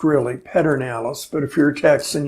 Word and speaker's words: Pedernales: miles down river on the perdón Alice it's pronounced really Pedernales but if your texts and you say perdón Alice three miles from Fredericksburg and in between the